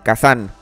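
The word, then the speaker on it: 火山: y can tampoco pero en japonés volcán se dice kazán y está escrito con dos kanjis el primero que en este caso se pronuncia K es el kanji de fuego segundo San es el kanji de montaña en japonés es común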